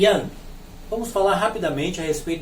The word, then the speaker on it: Yang: Yang, embora ele tenha G no final, não se pronuncia o G. É Yin e Yang. Yang, sem a pronúncia do G.